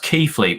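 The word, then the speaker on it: Keighley: how long have you lived up north it's pronounced keithley well okay yeah well that's why the south is better so you couldn't even pronounce it bruv even i knew it was pronounced keithley but i didn't want to say anything i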